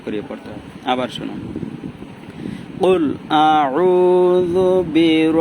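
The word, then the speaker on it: قُلْ: রাহিম আউজুবি রাব্বি ইন্নাস কুল এটা কল কলার হরফ এটাকে জোরে উচ্চারণ করতে হবে এরকম গলার মাঝখান দিয়া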